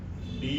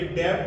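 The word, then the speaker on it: debt: रहता है तो देखिए डी ई बी टी अब ये डेप्ट नहीं होता ये डे होता है डे यानी कर्ज इसी तरह डी ओ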